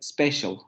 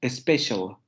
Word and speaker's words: special: Una de los errores que cometemos los hablantes del español es que, por ejemplo, al principio de esa palabra le ponemos una E y pronunciamos special, special, special. Lo que quiere decir que le estamos metiendo un fonema nosotros a la palabra para pronunciarla como en español.